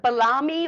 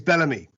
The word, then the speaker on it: Bellamy: last name right is it balami or bellamy it's bellamy yeah i should